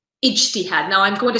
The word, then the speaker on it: ijtihad: I realize that this may sound eerily like jihad to many non-Arab ears.